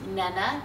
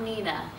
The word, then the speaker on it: Nena: tell you the background the name is Menna and we'll put the phonetic spelling underneath but it's Nana not Nina and this funny thing